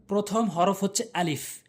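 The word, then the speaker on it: ا: প্রথম হরফ হচ্ছে আলিফ। আলিফ উচ্চারণ করবেন হচ্ছে উপরের দাঁতগুলো নিচের ঠোঁটের উপর দিয়ে রাখবেন। আলিফ আলিফ আলিফ, এভাবে।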